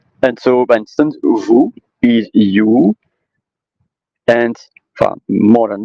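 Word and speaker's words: vous: U letter because uh there are example like vu and v do and do moo and m and so by instance vu is you and more than that but um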